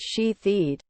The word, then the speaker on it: Shithead: Shithead pronounced she-theed.